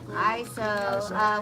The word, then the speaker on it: Iso: I've been saying your name wrong this time. ISO.